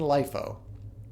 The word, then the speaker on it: LIFO: The accountants refer to the choices here as FIFO and LIFO. Yes, those are pronounced that way.